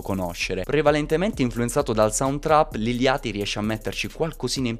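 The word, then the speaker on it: Lil Yachty: adesso possiamo buttarci sull'iliati che io ho sempre chiamato liliotti ma so che questa pronuncia è sbagliata e quindi di regola è liliati Mi sforzerò di chiamarlo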